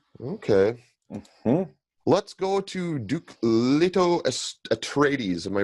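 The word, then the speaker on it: Leto Atreides: Victoria Principal huh okay let's go to Duke lto atres am I pronouncing that correctly you are Duke Leto atres all right who do you got for Duke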